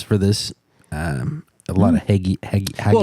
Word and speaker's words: hagiography: How do we pronounce that word? Because Reagan? hagiography. I don't know. Hagiography.